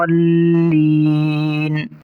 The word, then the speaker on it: الضالین: پڑھتے ہیں ضالین، دیکھیں لام کے اوپر شد ہے تو اس لیے ضاد کو لام کے ساتھ ملا کر پڑھیں گے، تو درست تلفظ ہوگا علیہم ولا الضالین۔ تو آئیے ایک بار